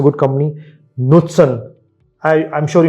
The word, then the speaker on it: Knutsen: नुत्सन, आई am sure you must have not heard the name, नुत्सन। नो, NUTSEN। के Norwegian company है तो के silent है, KNUTSEN, SEN, नुत्सन।